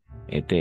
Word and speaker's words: été: Ete, como el participio pasado del verbo être. Exactamente. Se escribe igual, se pronuncia igual.